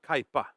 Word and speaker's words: Kaipa: Per's other project, which is, I called it Cappy, and you said I said it wrong, right? So yeah, Kaipa.